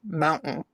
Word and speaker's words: mountain: Like we don't say like mountain, it's mountain. Mountain. Like we drop that T.